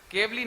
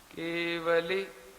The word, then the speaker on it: केवली: केवली बोलने पर जो बीच का व है वो आधा हो जाता है, और ला में बड़ी की मात्रा माने केवली हो जाता है वो, तो गलत है।